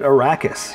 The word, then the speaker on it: Arrakis: with dune you know I still have certain ways I pronounce certain things you know Erika's you know in the movie they called it Arrakis you know so it's